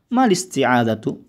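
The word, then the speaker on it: ما الاستعاذة: Mal isti'adzatu. Malis. Malis. Ya, bacanya malis. Ya, malis. Ya, malis. Panjang ma-nya. Mal isti'adzatu.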